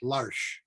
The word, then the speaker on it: Lars: It's Lars, but it's pronounced Larsh.